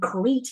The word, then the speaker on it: create: of aome create what what the word create here we don't have cre we have create right the festivals also create jobs for people I cannot I I don't understand the reason why okay you two always pronounce okay the word create like great or correct or something like this you have cre c